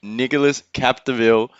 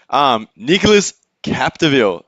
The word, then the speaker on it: Nicolas Capdeville: And Nicolas Capdeville from France in red. Way to go, Joey. Yeah, how's the Yeah. pronunciation? Good. Nicholas Capdeville.